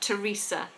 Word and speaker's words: Teresa: So we always stick our tongue between our teeth with THs, apart from the names Thomas and Teresa.